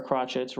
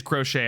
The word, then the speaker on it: Crochet: and the closers to crochet or crotchets it is it is it is crochet i just looked it